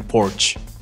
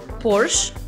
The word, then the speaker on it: Porsche: So you don't make it a sh. I don't make that ish sound. You make a sh sound.